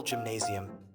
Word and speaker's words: Gymnasium: During February of 2000, a local gymnasium, pronounced with a soft G and essentially the German equivalent of a high school, was putting on a Valentine's dance party.